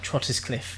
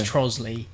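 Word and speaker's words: Trottiscliffe: one of them well like Trotters Cliff isn't it which is trollsly is that how it's pronounced yeah almost yeah um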